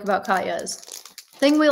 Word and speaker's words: Katjes: Katjes? No. It's Katjes. How do you say that? It's Katya's. Katya's?